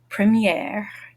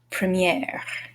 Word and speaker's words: première: Premier, première, premier, première. The feminine forms are all going to sound like they end in air, what you breathe.